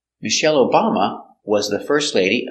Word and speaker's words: Michelle: ice cream very good the name Michelle comes from French so we pronounce it Michelle Accent on the second syllable Michelle Michelle Obama was the first